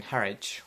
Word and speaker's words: Harwich: And the boat had already arrived in Harwich, which is apparently how you pronounce it, when we woke up, and then